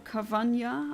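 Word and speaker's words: Carvanha: go back for the Carvana, or Carvanya, I think, because there's an H, and I think it should be pronounced like a the original animal, piranha.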